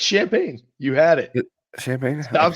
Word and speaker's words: Champaign: Champion, whatever it is. No, it's Champaign.